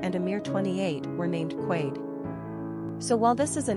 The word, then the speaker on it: Quade: Pronunciation, Quade.